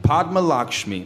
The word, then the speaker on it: Padma Lakshmi: How do you pronounce her name? Padma Lakshmi.